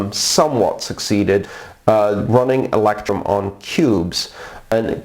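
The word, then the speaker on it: Qubes: succeeded running electrum on cubes and cubes is an operating system it's it's spelled q.u.b.e s and it's an operating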